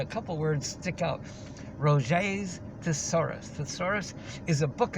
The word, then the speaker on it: Roget: Rogets, R-O-G-E-T-S. They pronounce it Roget.